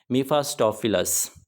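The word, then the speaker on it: Mephistophilis: यहाँ पे आप ई ई भी लिख सकते हैं, दोनों ही इसके जो स्पेलिंग होंगे वो करेक्ट होंगे। मीफास्टोफिलस, इसका नाम है जी मीफास्टोफिलस।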